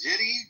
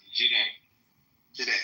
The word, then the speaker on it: Jide: After you, is it Jiddy? How do you pronounce that? Jide.